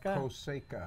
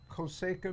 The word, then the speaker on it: Cosecha: placencia 149 how do you say it concha foseca coseca you were close coseca means crop and since uh placencia is more